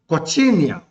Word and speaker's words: cochineal: It should also be noted that a bright red called cochineal. Cochineal is spelled as C-O-C-H-I-N-E-A-L.